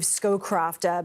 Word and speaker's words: Scowcroft: I believe Scowcroft, but I'm not sure if I'm pronouncing that correctly.